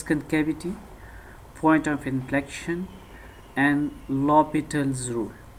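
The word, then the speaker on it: L'Hôpital's: point of inflection and lopital's rule remember that this h is silent here we pronounce this as lopital's rule so first of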